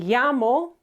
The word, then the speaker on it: llamo: Okay, double L sounds exactly the same as the letter Y. Okay, so me llamo could even be written